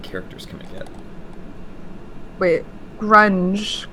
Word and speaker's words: Grung: Wait, grunge. How to pronounce grunge?